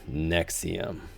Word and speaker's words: NXIVM: earth do they have a sex cult that is pronounced the same as a pill the 69th most prescribed